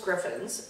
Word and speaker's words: Griffon: same breed they're Brussels griffins and from what I understand even though that's spelled Griffon most people pronounce it Griffin and mv's name what